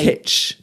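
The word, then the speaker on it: kitsch: Well, you really should be pronouncing them on your Google whatever and just I could do that, could I? Kitch.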